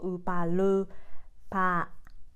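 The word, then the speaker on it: ウーパールーパー: I wrote it down in R because it's a Roman letter, but Japanese we don't pronounce as a R. We say more L sound. So upa lu pa.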